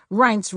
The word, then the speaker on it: Reince: it's hard to pronounce reince rhymes with heinz and priebus rhymes with